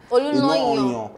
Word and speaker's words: Olunloyo: Did I pronounce it? Olunloyo. I got the pronunciation. Olunloyo.